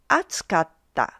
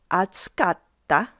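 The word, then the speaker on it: 熱かった: For group one, it's pronounced as atsukatta.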